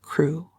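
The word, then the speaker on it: Crewe: difference in the name Madame Pascal pronounced it as if it were Kuru instead of crew but that might merely be a matter of pronunciation the circumstances were curiously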